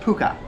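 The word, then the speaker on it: Pukë: It is not pronounced puke, it's pronounced puka.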